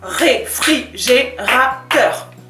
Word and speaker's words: réfrigérateur: Réfrigérateur. 5 syllabes. Réfrigérateur. Et là, on retrouve le E et le U de beurre. Ça fait E-teur.